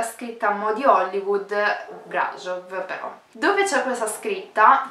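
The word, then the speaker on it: Brașov: Allora, si scrive Brasov, ma sono quasi sicura che si legga Brasov, quindi dirò Brasov.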